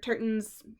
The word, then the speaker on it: Turton: I actually just bought Stuart Turton's, is that how you say it?